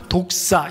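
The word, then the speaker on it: δόξα: 하나님의 영광 영광이라는 말을 헬로우 발음으로는 독사 이렇게 발음을 합니다 헬로 발음은 뭐라고 발음한다고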